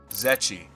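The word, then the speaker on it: Zryachiy: Zetchi.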